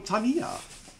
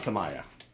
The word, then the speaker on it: Tamiya: right then we have the uh something from Tamia Tamia Tamia Tamia Tamaya not Tamaya just FYI we have those of us who